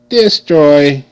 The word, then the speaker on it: destroy: d e d ooy destroy okay now you see the E is making a short I sound I I and American